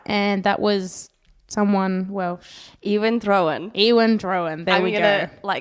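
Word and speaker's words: Iwan Rheon: His name is Ewan Drowan.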